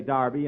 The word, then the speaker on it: Derby: last Saturday bill that's Derby the English say Darby and the Americans say Derby yeah and the losers